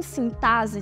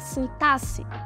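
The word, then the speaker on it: sintaxe: próximo o X em sintase tem um som de dois s sabia disso Ou seja a gente deve falar sintasse Vale destacar que a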